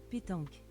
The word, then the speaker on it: pétanque: That explains why I can't pronounce it. Pétanque.